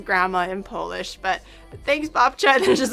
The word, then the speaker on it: babcia: P P P You You say Bapt It's Bcha.